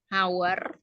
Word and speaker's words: hour: Contoh lainnya adalah kata hour. Ya, tulisannya hour tapi bacanya hour.